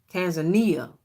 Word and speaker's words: Tanzania: Tanzania Tanzania I think I'm saying it wrong Tanzania that's it that's it that's it as a